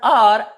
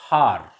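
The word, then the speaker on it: hour: vowel sound for example h o u r here the word r in this word are h is silent so it is pronounced as are not har honest not honest h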